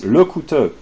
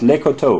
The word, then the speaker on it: Lecouteux: It's Lecouteux, not Lecoteau, but whatever.